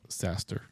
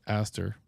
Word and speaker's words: Aster: Oops, not Saster, but Aster. could rhyme with disaster.